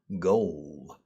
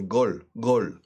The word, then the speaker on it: goal: Of course, in Spanish, say gol. But gol no me vale. It's not going to work. Goal.